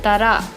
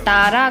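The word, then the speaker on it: ꯇꯔꯥ: 10 उसी से याद रहिएगा, मगर ये तारा करके नहीं बोलता, इसको तरा ऐसे बोलते हैं। प्रोनाउंसिएशन जो ऐसे करते हैं, तरा, ठीक है।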